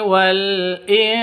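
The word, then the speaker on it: الْإِنْس: Minal jinni wal ins. Sininnya karena waqaf maka harus disukun sukunkan.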